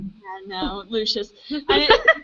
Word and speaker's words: Lucius: You could say Lucius, or you could say Lucius, which is the British way. Yeah, no, Lucius.